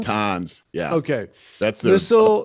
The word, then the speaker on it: Natanz: Natanz? Natanz.